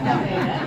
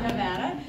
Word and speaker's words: Nevada: she said it wrong she said it wrong for the record I had it right it is Nevada it is not Nevada um but it's great